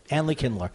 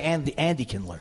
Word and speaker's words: Andy Kindler: Just like you can't say my name without saying Andley. Andley Kindler. Try and say Andley Kindler. Say it. Andley Kindler. No. Try and say Andy Kindler.